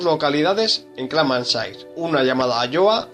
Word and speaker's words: Alloa: El apellido Alloa, y sobre todo pronunciado en el peculiar dialecto piamontés, como dice Hugo Alloa, estudioso del apellido, era transcrito por los castellanohablantes por Alúa.